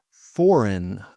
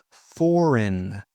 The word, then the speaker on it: foreign: Foreign. Foreign. Foreign means from a different country.